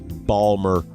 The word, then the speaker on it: Baltimore: from my hometown of Baltimore Maryland Balmer Maryland is the way we pronounce it back east and macey share some